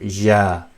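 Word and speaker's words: ي: English equivalent letter, but when you say ya, yes, that's the y part, ya, and that comes with the clenched teeth, y, ya. That's how the name is pronounced of this letter, ya, and the sound is just y.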